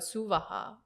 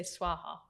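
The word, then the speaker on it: svaha: that final word, suvaha, why do we sometimes say swaha? It's just a mispronunciation. It's meant to be suvaha? Yeah, swaha. Oh. But it's just said very quickly. And so we mishear it as swaha.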